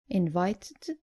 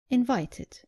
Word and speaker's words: invited: Just make sure you pronounce the e clearly. So, not invited, but invited.